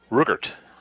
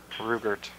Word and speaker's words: Ruchelt: The T is, you pronounce the T. Rugert.